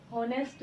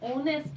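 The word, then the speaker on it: honest: होनेस्ट गलत pronunciation है, इसे हम ऑनेस्ट बोलेंगे।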